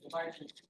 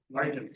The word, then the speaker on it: Largent: It's very American. It's with a hard T. Largent. Largent, okay.